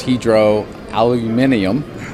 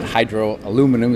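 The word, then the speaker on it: Hydro Aluminium: Our first partner was Hydra Aluminium. That's how they pronounce it. Hydro Aluminum is what we would say.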